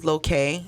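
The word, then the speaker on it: Lokal: that yeah um so my store is called lokay it's spelled l-o-k-a-l but it's a small business owner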